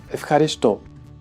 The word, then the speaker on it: ευχαριστώ: This is the word ευχαριστώ. Ευχαριστώ. In this case, apparently what is difficult is the combination f.